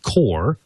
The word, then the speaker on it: QOR: Plus the rack mount portion, which is called the Core, and that's spelled QOR, also IKEA-esque.